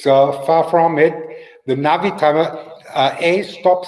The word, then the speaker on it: Navitimer: Americans say Navy timer, but there's no Y in there. There's an I. Navi timer. It was always the Navi timer.